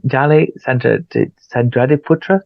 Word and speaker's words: Dally Sandradiputra: And Dali Sandradiputra, did I say it right?